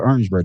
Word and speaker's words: Orangeburg: We call it Orangeburg. Not Orange. Orangeburg.